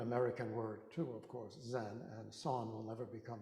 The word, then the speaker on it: Zen: Zen is dhyana. It's the Japanese pronunciation of the Sanskrit word dhyana, which means meditation.